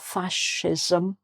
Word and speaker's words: fascism: "Fascism", so it's "fasc", not "fasc", but "fascism", fascism, which is the more...